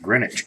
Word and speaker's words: Greenwich: at the coin counter Greenwich Connecticut Greenwich be pronounced Greenwich Connecticut all right let's take a look coin